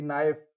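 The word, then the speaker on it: knife: अच्छा, कभी कभी के क्या है, साइलेंट हो जाता है। जैसे इसके एग्जांपल्स हैं, जैसे नो है ना, के एन ओ डब्ल्यू, नो, के एन आई एफ ई, नाइफ, के एन ओ सी के, नॉक।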